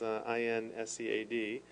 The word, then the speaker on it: INSEAD: from a French institution whose only acronym I'll pronounce, which is INSEAD.